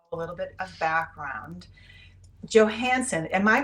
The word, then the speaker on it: Johansen: Well, if we were, you know, in Europe, Johansson, but in the Johansson, the Ian makes it Danish, but in the United States and in Minnesota, we'd say Johansson.